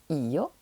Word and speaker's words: io: Donc pour dire je, on va dire io, avec un i long.